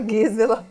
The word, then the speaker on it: Gisela: Se escreve Gisela, né? Mas a gente fala Gisela.